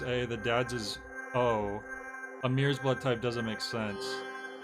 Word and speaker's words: Amir: the dad's is oh amir's blood type doesn't make sense so you you figure from that okay he hits his b um Jack said I wonder why they pronounce Amir like a mirror that might have just